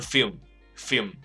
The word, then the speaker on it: film: OK，那据我知道香港人把这个字是念的不是很清楚的，因为有些香港朋友英文已经不错了，可是他们一直会把这个 film 这个字的 L 字发不太出来，所以他们会念成 film film。